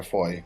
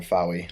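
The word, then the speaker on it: Fowey: A small boy found a large cat skull lying on the banks of the River Foy, which I always pronounce the River Fowy, like an idiot, in the late 1990s.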